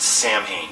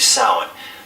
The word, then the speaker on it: Samhain: It's the spelling, you would think it's pronounced Samhain, but it's actually Samhain.